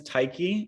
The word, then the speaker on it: Tyche: My company's name is Techy, and it's spelled Tyche.